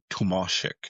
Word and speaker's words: Tomasek: David Tomasek, I guess I saw a thing where he doesn't really care how you pronounce his name, but it's pronounced Tomasek.